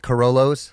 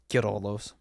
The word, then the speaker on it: Queirolo: and lasagna yeah um so yeah uh he pronounced it what' you say cor coros like a Toyota Kos yeah well I always